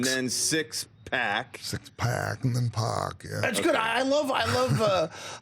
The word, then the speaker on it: Pac: Now, it's X Pac or Pac. So, like Tupac, more or less spelled the same, but you go with Pac, right? There's a story behind it, but Okay. What is it? Well, u Hogan would call me pack, like as in six-pack, like a six-ack of beer.